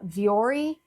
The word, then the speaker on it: Vuori: These pants that I recently got from Amazon, they are a dupe for the Vuori, I believe is how you say it, pants.